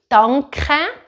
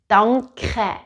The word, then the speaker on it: danke: In Swiss German we say danke, danke, but I'm not saying an R here.